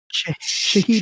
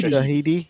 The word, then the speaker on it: Shahidi: Shahidi. Shahidi. Yeah, Yeah, that's what I thought it would be. Shahidi. That's I what was just we'll making go sure. with. Yeah. So she was cast Shahidi?